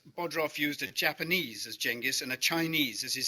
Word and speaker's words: Genghis: Genghis it is not, I'm afraid. Genghis is the way the Mongols pronounce it.